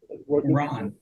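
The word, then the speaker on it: Rahn: r a hn is how his name is pronounced Ron yeah yeah well he's a comedian I said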